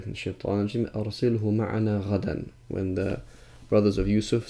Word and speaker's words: غدا: And he says that some of the Arabs actually do pronounce it غدوان, but we say غدا.